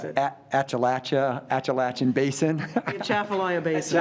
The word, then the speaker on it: Atchafalaya: Come on, you can pronounce it. Appalachian Basin. Atchafalaya Basin. Atchafalaya Basin.